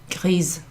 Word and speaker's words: grise: So gris with the S, you don't pronounce it, with the E at the end, grise.